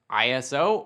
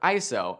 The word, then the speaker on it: ISO: how it affects exposure iso spelled out iso can be pronounced iso or iso and depending on where you are in the world you might hear both and both can be used iso is the level